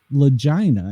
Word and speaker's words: Lagina: And the author of the book is called Vic Lagina. And I am pronouncing it correctly there.